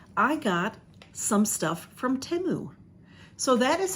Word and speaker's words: Temu: try it out I got some stuff from temu so that is how you pronounce it now this label um covers it but there it is t-e-m-u it is pronounced temu and I have a giant bag